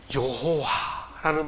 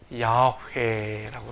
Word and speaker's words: 야훼: 여호와라는 말을 히브리어, 원래 구약성경 원래 언어인 히브리어 발음을 더 정확히 발음하면 야훼라고 합니다.